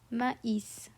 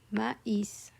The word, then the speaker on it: maïs: It's pronounced as maïs, maïs. The tréma splits the A and the I.